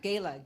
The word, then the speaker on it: Gayla: Gayla. Gay-L-A. That's how you spell it.